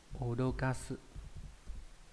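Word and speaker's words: 脅かす: Nó đọc là odokasu.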